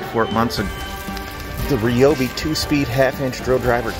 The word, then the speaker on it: Ryobi: a hybrid light you got the two tool Ryobi that is how you say it combo kit